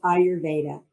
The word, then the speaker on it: Ayurvedic: The first thing I have to ask is, how do I pronounce? Is it Ayurvedic practitioner? It's Ayurvedic practitioner.